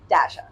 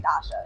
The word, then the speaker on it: Dasha: Because whenever I saw Dasha, I was like, I kept wanting to say Dasha. Yeah. Okay, that's Russian. I think it's traditionally a Russian name.